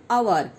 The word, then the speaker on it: hour: तसेच काही शब्दांचं पहिलं अक्षर स्पेलिंग वेगळं असलं, एच उदाहरणतः आवर स्पेलिंग आहे HHOUR पण उच्चार होतो आवर.